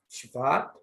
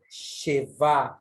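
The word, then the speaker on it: שְׁוָא: Você percebe que ele é falado de forma muito rápida, esse E, e não Sheva ou Sheva, e sim Shva, Shva. Exatamente dando a entender que esse Shva, ele aparece de forma muito rápida.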